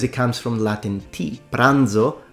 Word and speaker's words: pranzo: comes from Latin TI pranzo The Zed is pronounced because it comes from Latin di brandium now have you ever